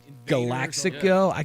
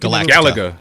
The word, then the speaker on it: Galaga: So it kind of reminded me of like classic arcade games like Invaders or like Galaxico. Galaga. Yes. Galaga. Oh, I could okay. never pronounce it as a kid.